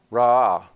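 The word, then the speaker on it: רע: word that's translated evil you know how it's pronounced Raw sounds a lot like sounds a lot like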